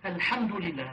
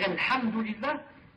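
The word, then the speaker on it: الحمد لله: le français par exemple, ont des difficultés par exemple de prononcer le H. Le H en disant Alhamdulillah, Al-Ha. C'est difficile. Ils prononcent par exemple Kha. Ils disent Alhamdulillah, par exemple comme ça.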